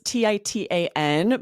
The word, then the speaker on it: Titan: So then you see new company, Titan Industries. So this is Titan, but you'd probably hear that as Titan with Mhm. that Yeah. glottal stop, the T. Most people don't pronounce that Titan.